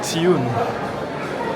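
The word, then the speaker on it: ציון: Alors ça s'écrit comme Sion, mais ça se dit Tsioun.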